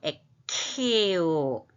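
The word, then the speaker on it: ἐκχέω: 에케오 크흐 발음 에케오 쏟다.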